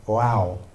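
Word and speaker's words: waw: Okay, there's this character called you pronounce it wow.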